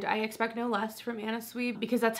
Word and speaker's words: Anna Sui: So I'll leave that down below, from Anna Sui.